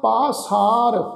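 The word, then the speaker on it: ਪਾਸਾਰ: कई कोट आकाश ब्रह्मांड, कई कोट होए अवतार, कई जुगत कीनो विस्थार, कई बार पसरियो पासाल पासार। पप्पे नूं कन्ना लगा होया जी, तो कई बार पसरियो पासार, सदा सदा एक एकंकार।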